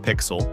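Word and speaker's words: Pixal: Zayn and Pixel, pronounced Pixel, are the most unconventional pair on our list.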